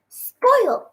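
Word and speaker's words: spoilt: chat box can you say that word spoiled spoiled spoiled my sister says spoiled spoiled it's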